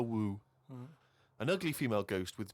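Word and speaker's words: wewe: Who is woo. using that word? It was just W-E-W-E. Let's call it a woo.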